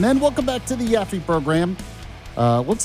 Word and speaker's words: Yaffee: There is no Yappy. It's not Yappy Yaffy. Yaky Yaffy or anything like that. No, my real name is Yaffy.